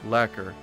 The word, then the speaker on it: lacquer: Last cure is pronounced lacquer.